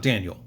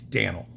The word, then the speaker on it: Dannel: It's not Daniel. It's Danel.